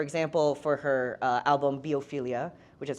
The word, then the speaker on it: Biophilia: album so for example for her uh album biophilia which is how she uh pronounces it um the words that she brought